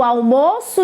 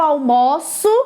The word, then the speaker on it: almoço: sons então por exemplo almoço ele pode ser substantivo o almoço de hoje estava bom só que também pode ser verbo e muda um pouco a sua pronúncia eu almoço sempre naquele restaurante então o almoço substantivo e o almoço verbo gelo gelo também o